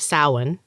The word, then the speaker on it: Samhain: though each year on the gaelic festival of samhain i think that's how you say it saucers